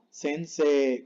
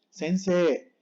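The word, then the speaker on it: 先生: suena sencillo y sin él con la i sense como doble sense puedes decirle si quieres la puedes decir pero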